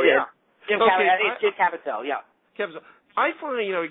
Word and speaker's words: Caviezel: Jim Caviezel. Did I say that right, Simon? I think so, yeah. Jim Caviezel, yeah.